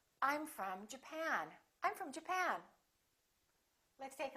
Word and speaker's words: Japan: say japan or japan in this case it's the second syllable i'm from japan i'm from japan let's